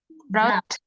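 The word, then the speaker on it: brought: brow BR Apa itu BR brout brout gh-nya enggak dibaca prout Iya artinya apa BR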